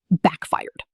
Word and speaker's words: backfired: First, backfired. Notice the stress. First, backfired. Notice the stress. Backfired with the second syllable stronger, almost like the word fire itself.